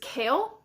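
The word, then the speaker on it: Chaol: all first of all the way you pronounce his character's name is kale but I call him tall because that's just how I've been reading it so um I guess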